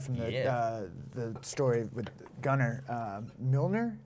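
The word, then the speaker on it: Mjölnir: Milner, is that how you pronounce it? Mjolnir.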